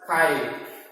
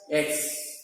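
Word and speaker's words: χ: It is pronounced as chi, not read as X.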